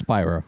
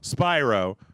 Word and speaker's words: Spyro: It's Spyro. Spyro, like pyro.